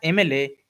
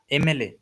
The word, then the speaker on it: MLA: Okay, and here also we are specifying the man, mla. Okay, usually in case of consonant we use what? We use a, but here it, while we pronounce it, we pronounce it like aim, aim.